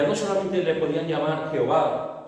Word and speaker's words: Jehová: la de adonay y la insertaron entre las consonantes de de manera que se pronunciaba Jehová Eh Así que ellos es lo que hicieron como no lo podían pronunciar cogieron los vocales de adonay y lo y lo insertaron en ese nombre y así podían por decir podían decir eh Jehová la palabra yahvé o